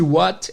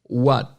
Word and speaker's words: what: Enfim, esse what, aqui o T na posição final, muitas vezes ele é mudo. Ou não chega a ser mudo em si. É mudo sim, é mudo. Eles fazem a intenção do T, mas eles não soltam um som. Então ao invés de você ouvir what, você muitas vezes vai ouvir what.